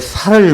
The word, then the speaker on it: 살: 아침마다 그 살을 먹습니다 예 쓰 발음이 좀 이상 합니까 쌀의 아니고 살 살 예 그분의 살을 영적으로